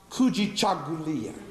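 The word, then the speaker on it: Kujichagulia: into those seven principles and grab one word pronounced coogi Chuck Julia which means self-determination the reason why I want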